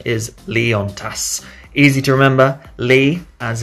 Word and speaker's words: Leontas: so the pronunciation is Lian tests easy to remember ly as in the boys namely on opposite of off and TAS as in tassel Lee on TAS easy Lian test when